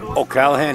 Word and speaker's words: O'Callaghan: an Irish lad something some kind of lad oh Callahan he is from Ireland I just spoke with